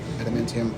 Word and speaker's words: adamantium: uh the arms are made out of adamantium is how you pronounce it adamantium armor or metal and